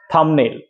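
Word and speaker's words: thumbnail: থাম থামনেল থামনেল ছুট থামনেল আমি আগে উচ্চারণ কি করতাম থামনেল বাট বিটা উচ্চারণ হবে না থামনেল আন্ডারস্ট্যান্ড ধন্যবাদ যুক্ত থাকবে আমি আবারো নিয়ে আসব ইংলিশ এভাবেই উচ্চারণ করা শিখে যাবে।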